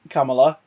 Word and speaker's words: Kamala: With Kamala Khan. Yay! Kamala. I love how they've got that in already to be like, people, pronounce the name correctly, because you're all going